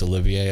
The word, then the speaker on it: Olivier: to pronounce his name I was saying Oliver it's Olivia I see now uh if